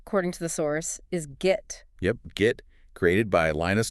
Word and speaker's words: Git: Like get but with a hard g.